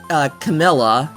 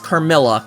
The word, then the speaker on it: Carmilla: I mean, we had Camilla, which, oh, Camilla's a whole other thing. I haven't read Camilla, but considering that, or, I think I'm saying it wrong, I think it's Carmilla, God, Jenny.